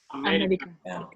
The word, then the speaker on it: América: América. América. América. ¿Correcto? ¿Es la primera regla o la segunda? La segunda. Sí. ¿Por qué? Es una palabra esdrújula, lleva el acento en la antepenúltima sílaba.